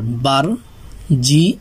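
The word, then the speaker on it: barge: এই শেষে যে ই আছে এই ই এর উচ্চারণ হবে না। তাহলে বি এ আর বার, জি ই বার্জ।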